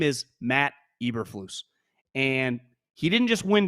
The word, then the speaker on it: Eberflus: And I've said the moment he wins a football game, I will no longer say Uberflus. His name is Matt Eberflus.